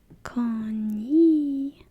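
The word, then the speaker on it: こんにちは: So you say in response, jokingly, "Konnichiwa. Konnichiwa." This letter is ha in Japanese, but in this pronunciation, it's like one of those exceptions. You pronounce it as wa.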